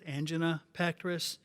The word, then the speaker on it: angina pectoris: common cardiovascular problem called angina Petrus you can also pronounce that as angen petris the petus is comes